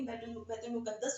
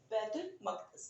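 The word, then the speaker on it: بیت المقدس: बहुत से स्टूडेंट्स कहेंगे भाई ये बैतुल मकदस क्या, वही बैतुल मुकद्दस होता है। नो, it's correct pronunciation is बैतुल मकदस, ठीक है।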